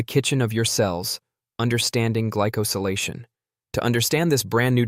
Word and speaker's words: glycosylation: This decoration process is called glycosylation, pronounced gly-co-si-la-tion.